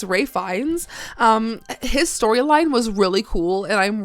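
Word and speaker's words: Ralph Fiennes: ] around and uh we call him Ralph Finest, but it's Ray Fines.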